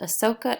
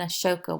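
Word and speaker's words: Ashoka: out now this guy you will see it pronounced Ahsoka and a shoka with a h and I can't figure out which one is which so I do it both ways because they're the same person and I call him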